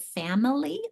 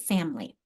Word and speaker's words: family: But how many of you actually pronounce it family, or do you pronounce it family, like 2 syllables?